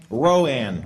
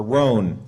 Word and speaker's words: Roan: Roan, or Roan. R-O-A-N. I think that's just Roan, right?